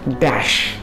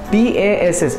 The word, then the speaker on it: dash: Dekhanu guys, aaj ta word hauchi dash. D-A-S-S. Agu odia re ame das kahuchu, but actually the pronunciation is dash. Dash, not das.